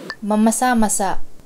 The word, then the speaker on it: mamasa-masa: You have to be careful of the accents here because masa means moist, but there's another word spelled the same called masa, which means the masses. So masa and masa. So just be careful to say it as masa.